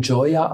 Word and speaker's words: Joya: Ja, man kann ganz einfach bei Google Kibun Joya eingeben, Kibun oder Joya. Kibun schreibt man K-Y-B-U-N und Joya mit J-O-Y-A.